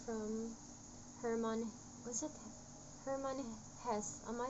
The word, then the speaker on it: Hesse: Hermann Hesse.